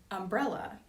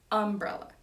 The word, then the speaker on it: umbrella: So in Georgia, you don't say umbrella, you say umbrella.